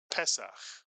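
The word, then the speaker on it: פסח: You put the word together and you get pes. Pesak.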